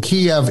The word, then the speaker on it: Kyiv: Well, Kyiv is the actual Ukrainian pronunciation of the word, and Kiev is the Russian pronunciation of the word.